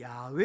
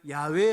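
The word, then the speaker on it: 야훼: 잊어 버린 거예요 그래서 여호와 또는 어떤 학자들을 야외 라고 발음을 해야 된다 이렇게 주장을 합니다 그러다 보니까 하나님의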